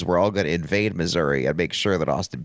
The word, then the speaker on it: Missouri: It's not Missouri, it's Missouri.